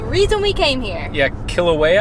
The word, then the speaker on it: Kilauea: we came here yeah kill away I think is how you say the name of the volcano but that volcano was